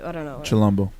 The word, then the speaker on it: Chilombo: Album of the year: Janae Aiko, Chilabombo. I don't know. Chilombo. Chilombo.